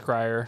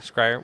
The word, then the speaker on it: Schreier: It's pronounced Scryer. Scryer.